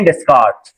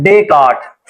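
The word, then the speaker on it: Descartes: Rectangular coordinate system is named after the French mathematician, अब ये France से था, and philosopher Renee डेस्कार्ट, pronounced डेकार्ट, उसका नाम बोला जाता था डेकार्ट, ठीक है।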